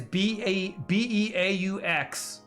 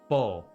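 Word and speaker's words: beaux: Why is B-E-A-U-X? Bo. You know? Why does it take 4 letters to write an O?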